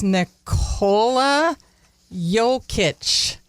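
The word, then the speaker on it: Nikola Jokić: try I'm gonna look I think it's niola yic and it's an autographed basketball oh I'm getting the high five I said it right all right okay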